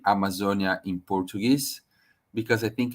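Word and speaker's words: Amazônia: start my presentation saying how do we say Amazonia in Portuguese because I think it's important for us to to understand uh how is our native language so this is how we say the pronunciation is Amazonia and um I want just to contextualize and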